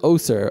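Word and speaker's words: OHCHR: h c h r i would pronounce that oser although your guess is probably as good as mine oser was established in 1996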